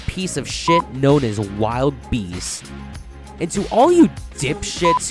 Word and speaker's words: Wild Beast: You see, this is what is known in literature as Old English, where words have things like silent E's at the end of them, and I's are replaced with Y's. If this is pronounced wildebeest, then by your logic, this land should be pronounced medieval fairy.